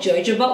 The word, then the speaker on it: jojoba: Now, don't laugh at me, but people pronounce this very differently wherever you go. There's some people that say it's called jojoba oil.